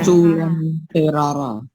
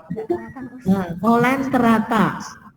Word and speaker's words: Coelenterata: Culanterara. Terata. Culanterara atau Culan. Kolen terata. Oh, ini harusnya T ya. T. Bukan R. Terata gitu. Kolen terata.